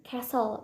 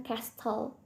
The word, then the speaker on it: castle: Jadi castle itu diucapkan castle, bukan castle. Jadi T-nya itu nggak dibaca.